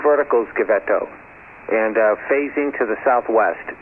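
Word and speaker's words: Givetto: Okay, Gavetto, is that the correct pronunciation? Yes, Bill.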